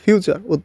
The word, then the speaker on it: future: আবার কিন্তু কেউ ফুটুরি বলেন না। কিন্তু অনেকে কিন্তু ফুটুরি বলে থাকে। এফ U foot T ইউ টু আর ইরি। তাই কিন্তু না। এটা কিন্তু ফিউচার মানে উচ্চারণ।